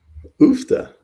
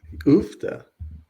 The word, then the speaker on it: Uff da: Oofta. Excuse me. They use oofta. The fuck does that mean? Excuse my Like, no offense to anybody. what was the Oofta? context? Oofta.